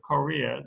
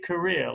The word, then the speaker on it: Korea: to live in korea i always tell my students if you say career with a full bar in the first syllable korea then keep it because there's no nobody will ever misunderstand you if you say korea but if you say career like i do then people will actually sometimes misunderstand you because i